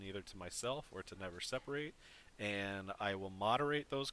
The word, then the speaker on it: NeverSeparate: that does it but most most people do pronounce it wrong it's actually meant to be never separate oh I'm gonna separate well it's the it's the adjective form the not the verb form of separate gotcha never separate a